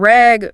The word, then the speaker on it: rag: And rag short a is different from rug short u.